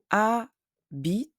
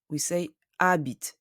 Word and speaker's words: habite: Elle habite à Paris. The H of habite is silent. We say habite, not habit.